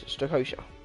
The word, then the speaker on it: Strakosha: Second of all, he's from Uruguay, and he's Strakosha.